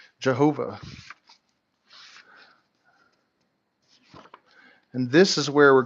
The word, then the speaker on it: Jehovah: letter yodeh vahe and english letters yhvh commonly pronounced jehovah and this is where